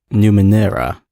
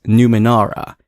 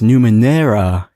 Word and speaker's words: Numenera: how they're pronounced and it turns out we're pronouncing the actual name of the game wrong cuz I thought it was Numa Nara and I couldn't understand